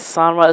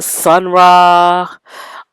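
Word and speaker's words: Sun Ra: I think I said Sonra. Sunra.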